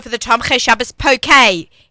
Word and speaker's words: poke: 3 years ago for the Tom Khe Shabbos poke. P-O-K-E, but it's pronounced poke.